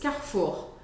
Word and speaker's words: Carrefour: que eu faça e então esse e do meio da palavra vai desaparecer praticamente então vou falar Carrefour você pode para treinar quebrar essa palavra em dois carfour carfour Car for o com